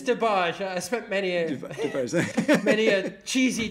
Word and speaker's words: DeBarge: I think that's how you pronounce them. Is it DeBarge? It's DeBarge.